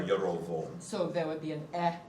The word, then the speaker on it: Jeroboam: it doesn't really, in Hebrew it'd be Rehoboam and Jeroboam, So be, or Yerovoam.